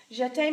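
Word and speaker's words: jeté: let's talk about it jet egg everyone says yeah hey that's what it looks like we're gonna accent over the e jet day means to jump so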